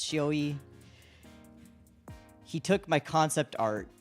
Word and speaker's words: Shioi: A friend of ours, Shioi, that's 401, pronounced Shioi, he took my concept